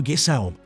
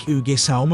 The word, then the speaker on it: Ægishjálmur: However, the meaning and context suggest it would probably have been pronounced more like Ǿgishjálm originally.